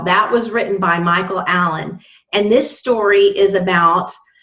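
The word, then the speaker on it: Allin: It is by Michael Allen. Now, his last name is spelled A-L-L-I-N.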